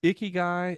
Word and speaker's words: Ikigai: And so here's how I remember it is Ikigai is like the sweaty guy in the gym.